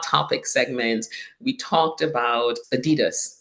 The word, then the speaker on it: Adidas: about the fact that Adidas is actually not pronounced Adidas it's Adidas I I remember that